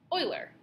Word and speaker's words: Euler: it whose name is Oiler spelled okay yes it is Oiler pronounced o i l e r but that's not how you write it it's written e l